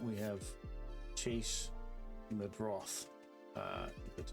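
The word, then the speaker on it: Meidroth: So I'm hoping these guys here will challenge each other for that spot, and if not, we have Chase Medroth, that's how you pronounce that, as somebody that will challenge for that position in the upcoming season.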